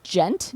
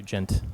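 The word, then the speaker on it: djent: over and over i don't know how to pronounce this do you gent d-j-e-n-t i do gent what does that mean that's uh you know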